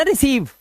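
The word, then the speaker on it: receive: मैं आपको यही बता देता हूं, देखिए रा ई सी लगा हुआ है तो ये हो गया रिसी, रिस तक तो पहुंच गए, रिस। अब यहां पर ई और आई का उच्चारण क्या निकालना है, ई तो सा पे भी बढ़ेगी मात्रा, और वी के लिए आप लगाओगे वा, और लास्ट वाले ई को पढ़ते नहीं तो हो गया ना रिसीव।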